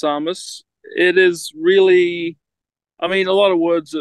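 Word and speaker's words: Tsamis: um an O2 yeah um pronounced Samus it is really I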